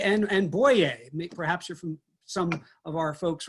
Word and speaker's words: Boyer: Dibert, de Turk, or the two biggest ones, we pronounce them Moyer and Boyer. Big names in this area. They would pronounce them Moyer and Boyer.